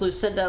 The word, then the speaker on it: Lucinda: I mean, I introduce myself as Lucinda, like, at work, and people are just like, you go by Lucy or Cindy? I'm like, no, just Lucinda. You can say it. It's just an extra syllable.